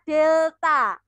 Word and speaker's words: delta: segitiga tetapi kita bacanya bukan segitiga Tey anak-anak segitiga ini kita baca delta delta t kemudian faktor yang